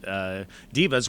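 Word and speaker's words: daeva: I believe the term is diva. Which is funny because coming from a theater background, we know some divas. But the divas there were, I believe they're spelled D-A-E-V-A, but they're pronounced divas, which is also demon, D-A-E-M-O-N, pronounced demon.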